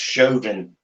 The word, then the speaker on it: Chauvin: It's pronounced Chauvin. Is that like chauvinistic pig?